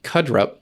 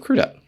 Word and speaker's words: Crudup: almost famous you said Billy krup instead of crudup and then Glenn Fry